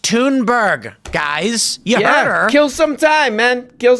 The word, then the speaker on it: Thunberg: First of all, it's pronounced Tunberg, guys. You heard her. Kill some time, man. Kill some time. Everyone always calls her Thunberg.